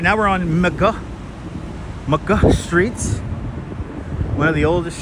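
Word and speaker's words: Middagh: Walking down McGuh streets. Us Brooklynites call it well, it's pronounced in Dutch as Middag streets, but people here in Brooklyn Heights call it McGuh streets.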